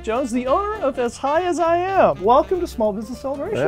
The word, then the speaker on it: Azhiaziam: in moral B and it's pronounced as high as I am which uh we Market